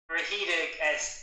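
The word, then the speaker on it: Rhedeg: So we're going to watch, do I pronounce it Rahidig, or are those initials? Rahidig, it's the Welsh run.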